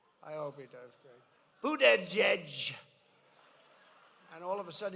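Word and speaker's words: Buttigieg: Boot, edge, edge. You say boot, and then you go edge, edge.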